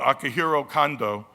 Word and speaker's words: Akihiro Kondo: making his US debut I pronounce his name earlier incorrectly because I was thinking of my good friend Akihito Honda who's like the king of boxing in Japan everyone knows mr. Honda but Akihiro Kondo is an accomplished writer